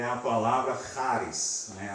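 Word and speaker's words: χάρις: Aquele CH, não se engane, não é charis ou charis, é charis, ok? E é culpa dos gregos, não, dos alemães, né? Que eles colocaram esse CH, para eles pronunciam CH daquele jeito, né? Burr. Mas o português não pronuncia do mesmo jeito, então às vezes a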